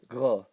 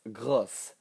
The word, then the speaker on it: gros: So let's look at the word for big, gros. Notice that it has an S at the end. In the feminine, it's grosse.